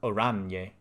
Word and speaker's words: Oranje: Oranje is pronounced Oranje.